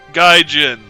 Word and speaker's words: gaijin: Oh, Gaijin. Okay. I would have pronounced it Gaijin if you hadn't actually said pronounced Gaijin.